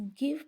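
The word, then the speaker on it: give: अब इसी तरह गिव के अंदर जो ई लिखा हुआ है वो साइलेंट है, वो प्रोनाउंस नहीं हो रहा। गिव की जो साउंड है वो वी पे ही ख़त्म हो जाती है।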